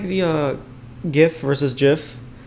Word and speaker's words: GIF: to think and then the person who made the gifts wanted to call it jif and i was like